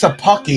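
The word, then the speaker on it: Szapucki: They're all over his fastball, but Thomas Sapucki is how you say the guy's name who started for us today.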